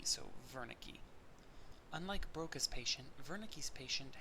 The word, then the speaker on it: Wernicke: see in the text is spelled with a W but because he it was a German researcher his name is pronounced as if it were a v so Wernicke unlike Broca's patient Wernicke's